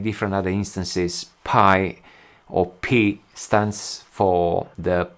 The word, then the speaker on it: Pi: other instances pi or p stands for the p greek letter and they decided to use that as a logo so a greek letter which is p is pronounced p uh i'll link some